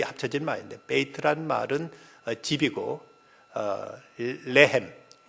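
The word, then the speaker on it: לחם: 이 베들레헴이란 말은 이제 히브리어로 베이트하고 레헴이라는 말인데, 이 합쳐진 말인데, 베이트란 말은 집이고 레헴 발음을 잘해야 되는데 L 발음으로 나와야 떡이 되지 R 발음으로 나와버리면 여자의 자궁을 가르친다고 합니다.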